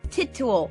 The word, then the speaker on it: titular: I heard titular, and I'm like, that's not how you pronounce that word. I said titular.